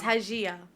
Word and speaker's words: Hajia: It's not Haxia. Huh? How do you say it? My It's surname. Hajia. Hajia. She's Albanian.